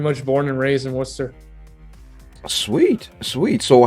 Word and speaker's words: Worcester: Everybody pronounces Worcester, but there is no H in it. It is Worcester. Pretty much born and raised in Worcester.